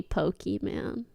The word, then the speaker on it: Pokimane: your name until like I don't think I pronounce it this morning call me pokey man Pokey man oh sorry I meant Pokey comma